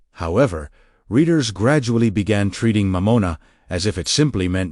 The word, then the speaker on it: Mammon: Mammon, pronunciation mamona, meaning wealth, possessions, or whatever becomes your object of trust.